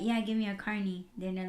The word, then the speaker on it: carne: that I mean Carney carne all the fries so you said it different right now that's the right way to say it Carney carne it's carne I said that yeah car